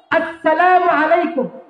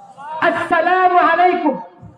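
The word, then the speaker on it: السلام عليكم: সালামের যে হামজাটা আছে, আমি যদি ওই হামজাটা স্পষ্ট করে দেই তাহলে সালামের হক আদায় হবে। তাহলে সালাম কেমনে দিব? আসসালামু আলাইকুম বলেন, আমার সাথে বলেন, আসসালামু আলাইকুম। অর্থাৎ সালামের যে হামজা আছে, ওই হামজা যেন স্পষ্ট উচ্চারণ হয়।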